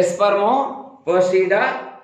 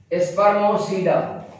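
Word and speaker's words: Spermopsida: पंजो जो को है स्पर्मो पोसीडा स्पर्मो पोसीडा स्पर्मो पोसीडा माना स्पर्मोसीडा पोसीडा पी साइलेंट जे तमा किनालेट जे न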